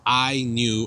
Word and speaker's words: INIU: about the specs so the actual correct pronunciation of this device is I knew and it's spelled i